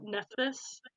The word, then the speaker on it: Nephthys: nothing even brother sorry her name is spelled really weird nephes it's phth so nephthys okay yeah um so